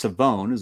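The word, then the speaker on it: Shavon: I think it's Revel, but it's Savone. That's how he pronounces his first name.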